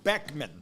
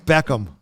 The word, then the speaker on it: Beckham: mini movie reviews all right Bend It Like Beckman okay Beckham wait wait how do you say his name